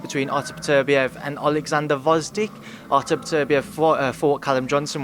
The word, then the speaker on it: Gvozdyk: Gvozdyk is that how you say it? Gvozdyk.